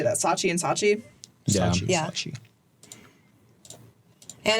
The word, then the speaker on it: Saatchi: Saatchi.